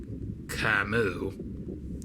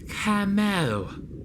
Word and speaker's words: Camo: Camus? No, Camo. He's right. You'd be saying it wrong, Ishmael.